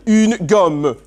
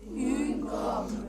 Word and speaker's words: une gomme: Une gomme. Une gomme. Really good pronunciation. I'm liking the U sound on une gomme.